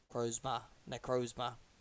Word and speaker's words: Necrozma: Necrozma.